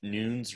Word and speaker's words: Nunes: at mr noon's teach nunes rhymes with tunes is always what i tell people uh when they ask me how to pronounce my last name it's the portuguese version uh so there's no tilde over the in and then there's no z there's an s and then i'm also